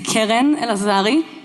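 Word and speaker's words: Keren Elazari: My name is Keren El-Lazari. That is how you pronounce it.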